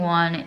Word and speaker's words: aux: And then another interesting one is le. So if it's like the subject is a plural, you can't say le, you say O, but it's spelled A-U-X.